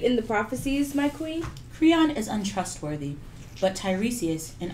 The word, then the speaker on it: Creon: How do you say it? Creon. Creon. Think of Cretan.